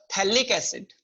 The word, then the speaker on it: phthalic acid: This we called as your phthalic acid. Phthalic acid. pH is constant. Okay, no voice will come. Silent. pH is silent. Phthalic acid. Not phthalic. It is phthalic acid.